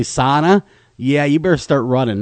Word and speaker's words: sauna: like the fins do sauna yeah yeah it's not SAA if you say SAA up here they'll flog you so be aware of that if you come up here and say sauna yeah you better start